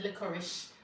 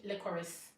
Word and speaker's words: licorice: I hate pronouncing licorice because to me, I feel like I have to say licorice, but I noticed that everybody else says licorice. So I'm also saying licorice, but I don't feel too comfortable saying licorice.